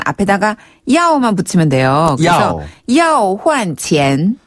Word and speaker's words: 要换钱: 그래서 要换钱. 要换钱. 한 번 더. 要换钱. 와, 이건 쉽네요. 要换钱.